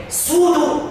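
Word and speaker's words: pseudo: سودو اول حرف فيها بي، هي ما بتتنطقش.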